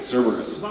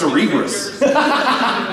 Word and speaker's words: Cerberus: How do you say it? Cerberus. Right? Cerberus. I used to think, when I was younger, I thought it was Cerebrus.